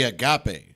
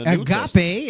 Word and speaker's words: agape: In the Bible, love primarily agape, right? Agape is the right way.